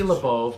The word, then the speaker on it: Labov: We are with Labov. Did I say that right? You said it right. Labov.